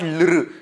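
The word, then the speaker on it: ऌ: it is not luru it is not love which has got rakara to it it is consonant is there which we will see later on similar pronunciation but it's little softer swara that is this swara very rarely used swara in Sanskrit clip very rarely we use the we use this swara say Lu okay so uh see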